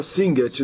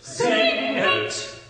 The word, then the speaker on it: Singet: Então, no coro 2, ele começa com a palavra Singet, 2 sílabas. Singet, singet. É muito simples, não é? É.